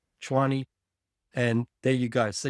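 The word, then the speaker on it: Tshwane: Chwani logo. That's how you say it in in South African Zulu. Chwani.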